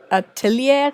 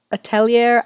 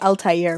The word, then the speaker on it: atelier: I think Witch Hat Atelier. I don't know how to say it. It's that French word for school. Atelier. I don't know. Atelier. I keep calling it Altair, which I know is not right.